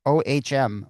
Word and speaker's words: Ohm: And his first name is spelled O H M, Ohm, like the resistance of electricity.